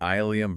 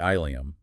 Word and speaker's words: ileum: So you have two entirely distinct linguistic lineages separated by hundreds of years that just happen to converge on the exact same phonetic pronunciation.